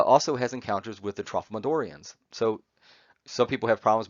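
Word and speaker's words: Tralfamadorian: about he uh also has encounters with the trophomedorians so some people have problems with this pronunciation i'll do it slowly trophomedorian so trophomedorians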